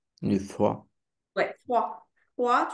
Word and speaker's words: froid: euh te protéger de froide de froid ouais froid froid tu prononces pas le D à la fin tu dis pas froide sauf quand tu veux